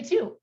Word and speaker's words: two: and it was basically decided yes but the pronunciation of the number two does not is not true we say two it's kind of hard to get our our